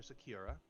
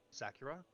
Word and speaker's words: Sakura: we we talked to Professor Sakura Sakura Sakura Sakura like the tree okay I I would